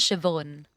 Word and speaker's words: Siobhan: h a n but it's pronounced with like a V like a Victor sound Shon it's like NE in